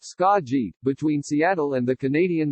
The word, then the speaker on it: Skagit: injunctive relief Friday morning Skagit County pronounced scott g between Seattle and the